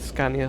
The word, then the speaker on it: Scania: I should call it Scania. I think that is how you say it in Swedish.